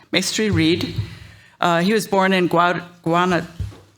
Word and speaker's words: Mestre-Reed: Next, we have, and not least, we have Ernesto Mastery. Did I pronounce it right? Mestre-Reed.